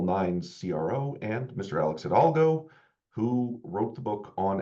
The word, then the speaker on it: Hidalgo: Alex Hidalgo, who wrote the book on SLOs. We literally talked before the webinar that you don't pronounce the H.